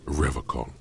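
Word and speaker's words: Revachol: He pronounces Revacol with a hard K. I like to pronounce it the hard. The stupid way.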